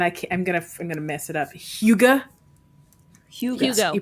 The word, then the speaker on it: hygge: Hugo. Hugo. You pronounce it Hugo. Hugo. Gotcha. So it's To a which I cozy- say, right, Higa.